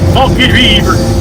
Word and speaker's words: Forked River: That's how it's spelled. Forked River. Locals here call it Forked River.